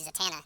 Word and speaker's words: Zatanna: which is right but I say zatana not Zana zatana I say Z I